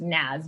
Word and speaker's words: Naz: oh my god that's so nice it's actually pronounced nads but everyone says nan so don't feel bad god I'm just like